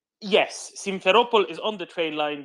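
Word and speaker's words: Simferopol: to the northeast right of sevastopol correct yes simpheropol is on the train line between sevastopol and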